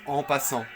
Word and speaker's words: en passant: C'est comme par exemple la prise en passant. C'est un terme qui a été repris du français. Et même les Anglais, les Américains, ils prononcent en passant.